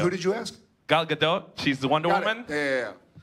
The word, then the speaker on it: Gadot: Yeah, because if I say her name in Hebrew, that's what people think.